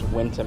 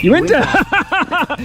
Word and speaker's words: Uinta: What does Winta mean? That's the pronunciation that we're giving it.